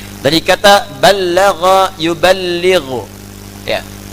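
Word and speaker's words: بلّغ: Dari kata ballagha yuballighu. Ya. Ballagha dibacanya, bukan bahasa Sunda balaga, ya.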